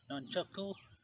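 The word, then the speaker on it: nunchaku: Pronunciation is Nunchucku because that's how the Japanese call it. Even the Koreans, they call it a Nunchucku.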